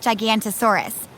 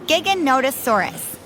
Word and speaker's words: Giganotosaurus: to leave them alone looks like gigantosaurus and actually was one of the largest meat-eating dinosaurs but its name is pronounced giganotosaurus it was discovered in